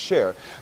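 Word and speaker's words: Csheir: as well which is shake or share c-s-h-e-i-r pronounced share but we just want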